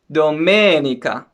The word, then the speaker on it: domenica: syllable sabato and then for the sunday we have it on the second syllable domenica okay that's pretty simple